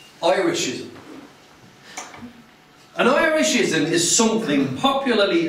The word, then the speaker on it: Irishism: Now the first syllable is pronounced I, as in, Oi, you, get off the bike! Irishism.